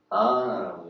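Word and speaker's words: dhyāna: 그래서 여기서 제가 이걸 굳이 넣은 것은, 명상은 빨리요, 그 자아나라고 읽어요. 요거는 이제 다아나라고 읽고, 자아나라는 빨리어에서 이 명상이라는 말, 이제 요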